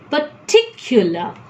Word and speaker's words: particular: The third syllable is accented or has the fixed position of getting more importance and not P here. Therefore, I cannot tell particular. I need to tell particular.